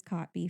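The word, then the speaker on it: Kotb: rhys witherspoon hoda copy it is copby for anybody who's ever wondered how to say her last name for music we have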